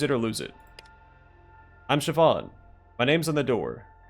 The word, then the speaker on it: Siobhan: would say use it or lose it I'm Siobhan my name's on the door yes that's how you pronounce it no I don't know why you